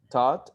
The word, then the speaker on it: taught: will always be silent you don't pronounce the gh so therefore the pronunciation is thought taught and thought number four